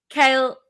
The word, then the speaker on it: Cael: So my name is Cael, just like the veggie.